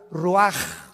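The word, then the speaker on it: רוח: Roach así como suena se pronuncia la en hebreo como J ruaj se les só y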